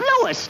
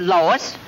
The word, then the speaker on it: Louis: the plant Lois Lois me name is Lis not Lois J whz everybody in toates me name wrong it's Louis l o u i s Lois uh Louise Lucy